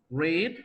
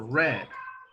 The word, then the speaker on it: read: Read is in Yes. present and in past. How do you say read in past? Read. Read. Like the color, red, right?